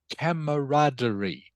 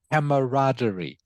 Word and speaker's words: camaraderie: okay it is pronounced camaraderie camaraderie can you say that please Vietnam good excellent camaraderie okay it is a French word as some of you might have guessed from the spelling it is a French